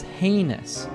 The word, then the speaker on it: heinous: And it doesn't sound like how it's spelled, right? The correct pronunciation of this word is heinous.